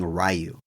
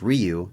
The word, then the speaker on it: Ryu: Ken had trouble saying Ryu he kept saying rayu and whenever he brought this up on set he's like well actually it's pronounced Ryu and they brought it to Steven and Steven's